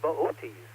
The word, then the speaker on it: Boötes: Miss Carolyn's constellation of the week this month is Boötes. It looks like it's spelled boots if you look at the spelling, but there's an umlaut over those O's. So Boötes represents a herdsman.